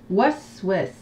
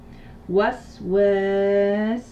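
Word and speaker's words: وسواس: Waswas. Waswas. Wa. Was. Waswas. Correction. Alors écoutez bien les syllabes, c'est un petit peu plus compliqué.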